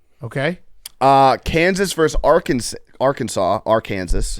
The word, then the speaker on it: Arkansas: Kansas is pronounced Kansas and then Arkansas is pronounced Arkansas not AR Kanas because they're both uh they're different tribes got